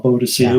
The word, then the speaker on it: Boadicea: We had Boudica back in Roman times fighting the Romans, or Boadicea, whichever you want to pronounce it.